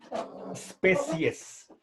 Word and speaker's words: species: 2 especies por favor en latín esta palabra empieza con la s por lo tanto pronunciamos bien evitando anteponerle a la s una e entonces el sonido inicial de esta palabra es especies fíjense termina en ese